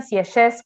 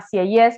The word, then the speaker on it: Sieyès: No digan Sieyès, como por ahí me lo dicen en los exámenes, se llama Sieyès, que ahora después en